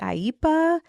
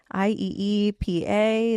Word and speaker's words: IEEPA: I think they say IPA. I E P A. That's kind of like a newer one for me. So, let's let's break that down. Yeah, the AIPA tariffs were announced um